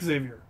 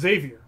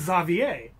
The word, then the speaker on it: Xavier: saying your name wrong you were pronouncing it Xavier which is actually how I used to pronounce it okay as opposed to just Savior yeah and the actual original pronunciation the French pronunciation is za VA oh really so there's